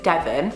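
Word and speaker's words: Devin: the channel Ladylike and there's a girl called Devon with an I instead of an O, so it's more like Devon, but they just say it like Devon and it sounds so cool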